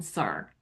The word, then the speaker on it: sir: When you said Sir Walter Raleigh, you pronounced the R on sir. So sir Walter Raleigh.